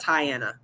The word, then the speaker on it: Tyanna: And I think phonetically it's like Diana, but Tyanna.